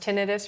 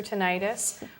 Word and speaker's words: tinnitus: ringing in the ears that's pronounced tinnitus or tinnitus we're going to explore